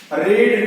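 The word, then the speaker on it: read: Spelling same होती है रीड की, लेकिन इसके प्रोनाउंसिंग जो है प्रोनाउंसिंग डिफरेंस होते हैं। प्रोनाउंसिंग में हम सेकंड फॉर्म और थर्ड फॉर्म में इसको रेड पढ़ते हैं, बाकी फर्स्ट फॉर्म में इसको रीड पढ़ा जाता है।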